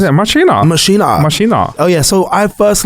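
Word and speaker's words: Maschine: The Machine 2 or Machina. If you're German, I think that's how they say it. Machina.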